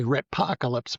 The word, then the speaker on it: Ratpocalypse: I've already gone through YouTube and looked at some excerpts on Ratapocalypse. Did I pronounce that right? I say retpocalypse, but I don't know that it's in the dictionary yet.